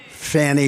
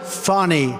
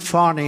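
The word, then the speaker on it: Fani: the horrible case of Fanny Willis it's it's actually pronounced fonny it's f a n i but you pronounce it fonny a little French accent there fonny but that's a terrible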